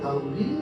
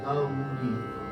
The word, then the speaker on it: गौरी: के गौरी गौरी ये हिंदी का उच्चारण है ना गौरी ये संस्कृत का उच्चार है गौरी ग और उन को दोनों लेकर के बोलते हैं गौरी नारायण नारायण